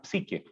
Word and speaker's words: psique: Entonces, a ese tipo de alma se le llama psique. Se escribe P-S-I-Q-U-E, psique.